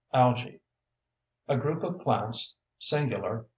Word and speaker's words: algae: illustration tropical Thicket glossery algae pronounced algae a group of plants